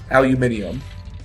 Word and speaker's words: aluminium: Aluminium. Oh. And that's how anybody that's not American pronounces it, too. It's aluminium.